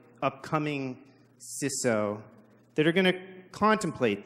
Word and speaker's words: CISO: I think what's all on our minds right now, the correct pronunciation. Is it CISO? Raise your hand. CISO, there's a couple hands, Bo, you're wrong. Or is it CISO?